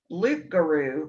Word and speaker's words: loup-garou: It comes from the word Loup-garou, which is actually, that P is supposed to be silent because it's French.